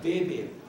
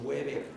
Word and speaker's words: Weber: han existido Max beber se pronuncia beber se escribe con w el apellido no es gringo y por lo tanto no es Weber es alemán y la W en